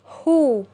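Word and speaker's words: who: زي مثلا عندنا كلمة هو دبلو اتش او صوت الدبلو اختفى خالص وحرف الاتش هو اللي ايه؟ هو اللي ظهر. عشان كده هنلاحظ ان حرف الاو او حرف الاتش وظهر ايه؟ وظهر صوته بوضوح. يبقى دبلو اتش او هتبقى نطق الكلمة دي ايه؟ هو هو.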